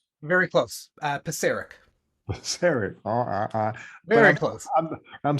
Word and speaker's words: Pisarek: Pisarek? Very close. Pisarek.